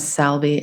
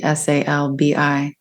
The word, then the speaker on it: Salbi: And her last name is Salbi, Salbi.